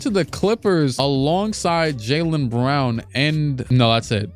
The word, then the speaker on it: Braun: of Christian Braun, but they kept on making it a point to say that it's Brown.